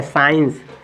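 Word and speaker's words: science: तो चलिए इसको पढ़ेंगे तो एस एस के बाद सी साइलेंट तो एस आई ई एन सीई तो इसको क्या पढ़ेंगे साइंस क्या पढ़ेंगे साइंस साइन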